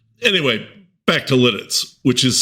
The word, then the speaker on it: Lititz: Anyway, back to Lidditz, which is spelled L I T I TZ.